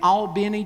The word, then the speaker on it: Albany: And then when his church in Albany, Georgia, and that's the proper pronunciation of that town, when the deacon stood